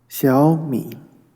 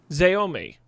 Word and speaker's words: Xiaomi: Xiaomi. Xiaomi.